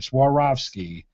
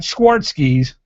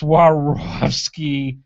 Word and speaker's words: Swarovski: or swarovski i'm sorry swarovski is the correct way of saying it's not schwarzkies it's what it looks like it's swarovski crystals and that is